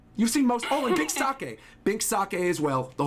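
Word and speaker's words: Binks' Sake: I've always pronounced that Blink's sake, so I'm glad you told me the correct way to say it. Oh, no, it's Bink Sake. So it's like the drink, sake, and then Bink's, being possessive of the sake.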